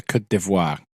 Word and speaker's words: Côte d'Ivoire: Officially, it's Le Côte d'Ivoire. That is the official pronunciation of that.